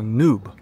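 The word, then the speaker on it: noob: Оно английское, пишется вот так и произносится нуб. Максимально идентично.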